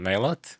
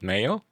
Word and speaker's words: Maillot: Well, there are two different you know meanings or two different way of pronouncing. Okay. Obviously in Australia, Australian people saying mailot. Okay. Apparently it's the French word. Okay. Yeah. It's called mayo.